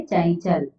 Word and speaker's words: चंचल: तो च वर्ग का पहला अंतिम वर्ण, पहला तो च है और अंतिम वर्ण कौन सा है? अंतिम वर्ण है य। तो किसका उच्चारण होगा? य का। तो यहाँ हम क्या पढ़ेंगे? चंचल।